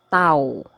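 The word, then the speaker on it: tawo: is or it exists it is actually pronounced as tau okay tau it means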